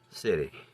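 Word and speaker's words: Sidhe: From mischievous imps and sprites to fluttering pixies to malicious goblins to sinistry, graceful elves and city, and that's spelled S-I-D-H-E.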